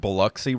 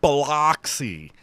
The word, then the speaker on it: Biloxi: And I'm like, oh, why do you people insist on saying Biloxi? It's so stupid. In their defense, that is literally how it's spelled. No, it's not. It's Biloxi. Maybe we're dumb.